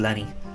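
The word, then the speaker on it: Lenzie: saying you don't pronounce the zeds in uh in scottish names for example cozy and castle is actually clean castle and then latency is actually lenny it's actually got scalded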